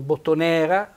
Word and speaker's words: bottonera: bottone era bella bottoniera mi raccomando bottonera accento tonico sulla e che diventa cento fonico aperto bottonera il social è la